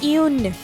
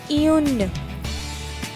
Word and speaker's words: un: this is written u and e how we pronounce it un repeat after me un right so we use eun for femina all